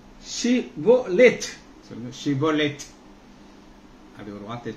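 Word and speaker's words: שִׁבֹּלֶת: நீ ஷிபோலேத், சொல்லுங்க ஷிபோலேத், அப்படி ஒரு வார்த்தையை சொல்ல சொல்றாங்க, ஷிபோலோத் என்று சொல் என்பார்கள். அப்பொழுது அவன் அப்படி உச்சரியாமல் சிபோலேத் ஷிபோலேத் சிபோலேத் என்பார்.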